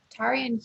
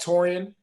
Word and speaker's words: Taurean: are thanks jeff um tyrion from rice university would you and mike and tell me if i pronounced that right if i didn't i apologize okay it's uh taurean okay so if